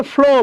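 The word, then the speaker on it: flew: Blow মনে রাখবেন, blow, ফ্লো, এই যে ফ্লো প্রবাহিত হওয়া, গতকাল বলছিলাম এটা মনে রাখবেন, ফ্লু। অনেকে আমরা উচ্চারণ করি ফ্লিউ, না, এটা জাস্ট ব্লু, আমরা বলি না ব্লু,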